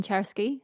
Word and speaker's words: Czerski: to say hello my Twitter handle is Helen chery uh and my surname is spelled CZ r s k i there's only